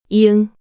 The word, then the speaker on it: 이응: And when ieung, is used as a final consonant in a syllable, is the same ng sound you make when you pronounce sing and song.